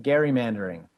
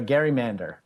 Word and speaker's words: gerrymander: redistributing commission and uh connie would pronounce it gary mandering or a gerrymander and it was back and forth with commissioners as to how they would pronounce it so um gerrymander or gerrymander i say it's just like gif or jif um you can use either uh but this is